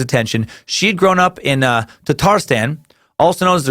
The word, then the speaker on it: Tatars: where jobs are scarce home of the Tatar or actually sometimes it's called Tatars depending on which pronunciation guide you look at the correct version seems to be - tarz years literally er the